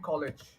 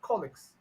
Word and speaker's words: colleagues: colle colle colleages colle so you're you're saying it like this all right you're saying College okay but this is a different word so it's actually colleages okay colleages so colleagues so either either colleagues if you're saying the British English or you say uh colleagues if it's American English all right colleagues colle